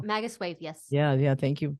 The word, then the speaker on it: Magus Wave: uh to Anna at magazwave PR I guess that's is that how you pronounce it no Magus wave yes yeah yeah thank